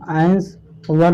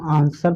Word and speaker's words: answer: तो देखिए यहाँ एस के बाद डब्लू आया है ना, तो ये डब्लू आपका साइलेंट है ना। इनको हम आंस वर नहीं बोलते हैं, इनको हम आंसर पढ़ते हैं।